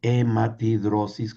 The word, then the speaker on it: hematidrosis: Ese se conoce en la medicina como hematidrosis y existe eso todavía hasta hoy, hematidrosis con H muda.